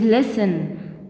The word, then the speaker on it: listen: word listen it is listen not listen because t is silent here and it is both